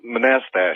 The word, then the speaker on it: Manastash: that I guess all right how do you pronounce the name of your town manastash oh oh manastash manastash that's right thank you uh and uh